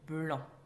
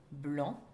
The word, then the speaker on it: blanc: C et le mot blanc, qui contient un C à la fin de son mot, mais que l'on n'entend pas, sauf si on met ce mot au féminin. blanc devient blanche.